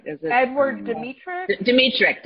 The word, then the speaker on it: Dmytryk: I never pronounce it right. Is it Edward Dmytryk? Dmytryk.